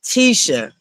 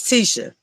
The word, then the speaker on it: Tisha: It was somebody, you know, that she's cool with, but they still was pronouncing her name wrong. And I'm just like, girl, girl, it's Tisha. Okay, it's Tisha, please.